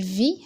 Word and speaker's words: vit: Alors il vit, le T c'est muet. On l'écrit mais on le prononce pas.